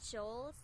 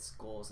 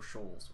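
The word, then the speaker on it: Scholes: Some guys named Black and Shoals? Well, I butchered his name so hard, I think I said skulls instead of trolls. Or shoals, whatever the fuck.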